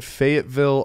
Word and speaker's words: Fayetteville: We are in Fayetteville, Arkansas.